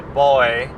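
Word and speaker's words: buoy: the boy boy you the way she said like the boy is just how you say it no she's actually a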